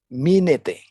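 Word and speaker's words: μένετε: Ya, tetap ini dalam bahasa aslinya minete, ya, minete, begitu cara pronounce-nya, minete, ya, bahasa Greek-nya.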